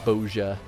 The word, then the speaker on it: Bozja: Yeah, so it's the soft yeah as opposed to a ja. Bozja.